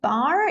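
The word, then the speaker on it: barre: would normally use but I think Barr is an older spelling and it's more specific to ballet and that's why it's used here so this is called a bar different spelling same pronunciation so this type of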